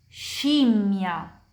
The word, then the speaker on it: scimmia: Jadi, she dan she itu kayak bahasa Inggris. Kapan kita bicara bahasa Inggris dan lihat S dan H, itu pronunciasinya kayak SCI dan SCE di bahasa Italia.